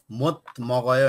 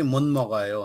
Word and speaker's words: 못 먹어요: okay उच्चारण चाहिँ मत मगायो होइन कि मुन मगायो हुन्छ होइन मुन मगायो सुन्नु